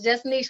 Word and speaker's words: Just Nēsh: Looks like Nash. Everybody pronounces it as Nash, but so it's Just Nēsh with one E.